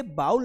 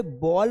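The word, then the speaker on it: bowl: इसे बाउल नहीं पढ़ा जाता है। जो कटोरी होती है, कटोरा होता है उसे बॉल पढ़ा जाता है। बेटा क्या पढ़ा जाता है? बॉल। वो जो क्रिकेट की बॉल आती है ना बस वही बॉल। बस थोड़ा सा अंतर है। वो बॉल है और ये बाउल है। तो यहां पर आपको बाउल नहीं पढ़ना है। बॉल पढ़ना है।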